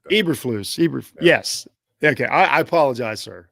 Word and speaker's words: Eberflus: I want to say is it Aberhaus? Am I saying that right? I hate to get a guy's name wrong. I think it's Eberflus or something like that. Eberflus.